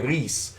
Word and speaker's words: Rhys: created this suggestion after Rhys is that how you pronounce it Rhys yeah okay Reese after lease and basically